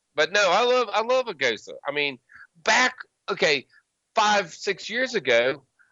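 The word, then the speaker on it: Gose: But no, I love a Goza. I mean, 5-6 years ago, I'd pull out a Goza and everybody go, "What's that? Right. A goosey?"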